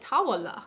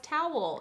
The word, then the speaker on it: towel: Her teacher was pronouncing it tawala, like 3 syllables. Yeah. And she's like, no, it's towel.